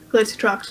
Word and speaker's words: Glacialtrox: Glacialtrox. Glacialtrox. Think Glacier with Mhm. Trox.